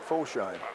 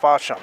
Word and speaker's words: Fosham: I would have said Foshine. I would have too, but he says pronounced Fosham.